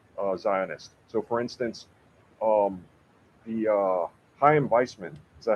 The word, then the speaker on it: Chaim Weizmann: So, for instance, the Chaim Weizmann, is that how you say his name?